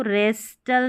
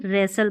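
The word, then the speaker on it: wrestle: तो इसको रेस्टल नहीं रेसल पढ़ेंगे। क्या पढ़ेंगे? रेसल। तो यहां पर भी टी साइलेंट है।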